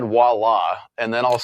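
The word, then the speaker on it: voilà: Yeah, but do we say it that way? voila. Yeah. Voila. Voila is how most of us say it.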